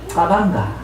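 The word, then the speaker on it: cabanga: 근데 아프리카식으로 읽으면 카방가 이렇게 읽어야 돼요.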